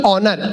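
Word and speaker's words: honour: अब ये बोला होनेस्ट नहीं ऑनेस्ट, होनर नहीं ऑनर, इसमें एस साइलेंट आता है।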